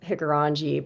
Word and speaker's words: Hikurangi: There's been plateaus, I believe it's pronounced Hikurangi Plateau that's colliding in New Zealand or collided with New Zealand.